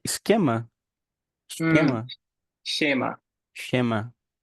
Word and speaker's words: Schema: Pronúncia é esquema? Hum, Esquema? Schema. Schema.